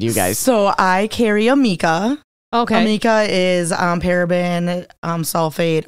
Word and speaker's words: Amika: Amika.